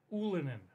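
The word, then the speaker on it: Ylönen: Jesse Yolinen? We looked up how to pronounce this dude's Jesse name. Jesse Yolinen? Gotten. A little Canadian... How do I pronounce this dude's name? Ulinen.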